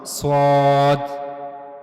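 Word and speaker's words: صاد: It will not connect though but it will go near the plates of the top two front incizes. So that's how you can pronounce swad.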